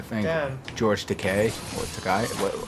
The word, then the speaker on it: Takei: George Takei or Takai. How do you pronounce his name again? Okay. Takei.